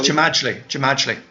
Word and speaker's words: Jamajli: Is it Jamali? Oh, it's Jamajli. Jamajli.